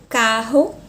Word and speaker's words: carro: eu tenho a palavra carro isso para a língua portuguesa mas a língua espanhola a pronúncia ficaria Carro Carro sempre o r na língua espanhola e vibrante sempre sempre sempre tá bom e depois